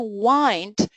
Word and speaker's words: wind: So, the wind. But there is another pronunciation to wind. Um, now we have a lot of uh electronic watches. Uh but in tra in the traditional watches you had to wind your watch or you